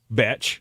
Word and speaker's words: Bech: Betch. Yeah, his name is actually pronounced how it's spelled.